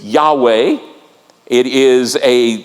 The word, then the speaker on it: Yahweh: the the scribes so we don't know how to say it for a long time we thought it was Jehovah now we believe it's Yahweh it is a name